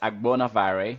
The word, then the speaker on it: Agbonavbare: It's Agbonavare. So the cool thing about it is actually the B towards the end of it is silent. So it looks intimidating, but it's actually really not.